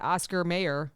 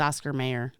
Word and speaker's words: Oscar Mayer: R yeah it's not Oscar mayor it's Oscar wait it's Oscar Mayer not Oscar May it's not Oscar Meer I mean it is Oscar Meer but yeah it's spelled mayor so it's m a ye